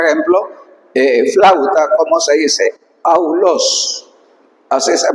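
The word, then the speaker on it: αὐλός: Aulos. Así se pronuncia. Esto es importante entenderlo. Aulos.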